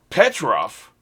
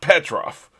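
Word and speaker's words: Pietro: I think it's Petro, something like that. I don't even know now. All I know is it's not Petrov.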